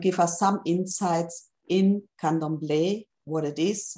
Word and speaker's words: Candomblé: This is pronounced Candomblé in Portuguese.